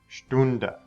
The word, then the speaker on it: Stunde: The ST sound at the beginning of the word makes a sht sound. Stecken. Stunde.